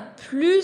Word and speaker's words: plus: Je ne prononce pas le S, je ne prononce pas le T. Je ne prononce pas, ça veut dire je ne dis pas. C'est silence. Chut. Léo est triste. Il n'a plus sa balle.